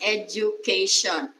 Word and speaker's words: education: this table uh there's there's a letter d that is not pronounced as the it's gem an example is education we do not say education because it's letter b it should be j education we are educators